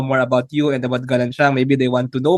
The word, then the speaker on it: Galansiyang: pronounced Galansiyang.